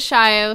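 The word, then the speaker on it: Shayo: you can find me on Twitter at shy oh and it in case some people don't know how our last name is spelled it is sh ayo but we pronounce it shy oh so that might make it a little bit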